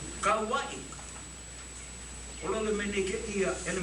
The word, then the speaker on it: Kauai: I said, K-A-U, I stop. I pronounce K-A, and I use W-A-I. Kau, K-A-U-W-A-I. Kauai.